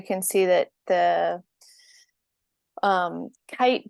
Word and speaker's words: KAIT: see that the um kite building so it's spelled k AI t uh from ishigami is